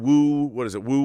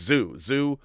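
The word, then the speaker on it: Zu: You know, no one had seen Wu Warriors of the Magic Mountain? Or Zoo, it's Zoo, Warriors of the Magic Mountain.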